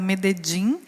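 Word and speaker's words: Medellín: supera o nosso e medelim que lá é pronunciado meded é a capital da Província montanhosa de montanhosa de de antióquia com uma população superior a 3.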